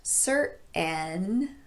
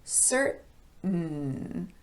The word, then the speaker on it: certain: And this word is not certain, but certain.